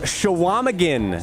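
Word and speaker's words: Chequamegon: q in there yeah has there ever been a silent Q before I love a good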